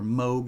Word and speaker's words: Moog: Having the 8-bit guy on, meeting David and Danny O'Connor, and having her play her Moog instruments on the show, or Moog as it's pronounced, live from Radio Shack.